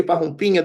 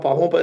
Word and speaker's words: Parrumpinha: Well, American people doesn't know how to say Parrumpinha the way you do. Okay, You know, okay. that's the right way to say.